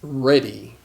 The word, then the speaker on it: ready: it's reading no but the word changes pronunciation so read and ready read and ready so